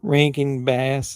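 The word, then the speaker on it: Rankin/Bass: you guys yeah ranking bass is how you pronounce that Rank and ranking ranking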